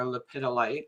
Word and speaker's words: lepidolite: the crystal, can't forget the crystal, is lepidolite or lepidolite, some people pronounce it, which is a beautiful healing crystal that I've worked with.